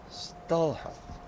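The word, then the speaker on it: Stalhrim: Skull like Stallheim. The way it look, way it sound. H is silent just like skull. Oh, Stalheim.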